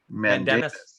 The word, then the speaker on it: mandamus: Mandamus.